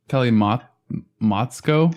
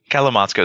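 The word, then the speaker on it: kalimotxo: Kalimotsko plus? Kalimotsko? Kalamotsko is probably right. It just messed me up because the T and the X are right next to each other.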